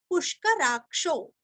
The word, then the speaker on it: पुष्कराक्षो: है, वृक्ष, पुष्कराक्षो, पुरस्व, पुष्कराक्षो, क्ष का उच्चारण भी अच्छे से करना है, महामनाः, अभी यहाँ पे